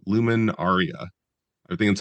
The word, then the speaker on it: LuminAria: 2001, a show called Luminaria. I think that's how you're supposed to pronounce it. It had a capital L and a capital A. So, it wasn't a Luminaria, it was a Lumen Aaria.